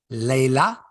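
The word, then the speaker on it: Leylah: so so anyway like on the WTA website for the pronunciation of her name it's her saying Leila Annie Fernandez and on the commercial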